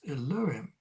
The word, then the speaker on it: Elohim: the Hebrew name for God is Elohim, nowadays pronounced and spelt Elohim.